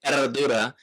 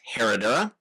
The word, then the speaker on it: Herradura: The brand Eradura is challenging for Americans because it's got the silent H and the double rolled R. And again, I don't pretend to always be able to pronounce it correctly. So, you will often hear this brand anglicized as Herodora.